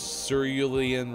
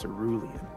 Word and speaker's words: Cerulean: Cerulean Riot? So close. Cerulean. Cerulean. Meteorological. Cerulean. 271 on the mispronunciation counter.